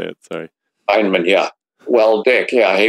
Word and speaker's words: Feynman: Feynman, yeah.